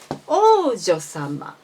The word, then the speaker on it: 王女様: Please notice that the O is high and U is low of OU in the Oujyosama. And as I said in many times, you don't need to pronounce OU. You should say O in this case.